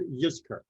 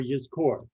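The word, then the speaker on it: Yizkor: so now uh is called ysker or yiscore if you want to use more of the proper hebrew pronunciation rather than the yiddish this is a custom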